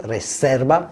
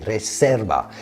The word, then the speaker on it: Reserva: unlike English or Italian if you want to pronounce it correctly it's got an S sound Reserva and a b sound for the V Reserva in Spain unlike in